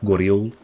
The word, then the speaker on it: Goryeo: That guy used the classical pronunciation for Korea, Goryeo.